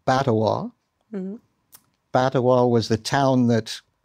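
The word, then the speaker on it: Batawa: I would have said Batowa. Batowa was the town that Thomas Baťa Jr. Founded in Canada. Baťova. No. Batowa. Batowa. B-A-T-A-W-A. Like Ottawa, This is Batowa, right?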